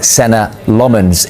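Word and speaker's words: Senne Lammens: of the window, but United opted to sign Senna Lomans instead.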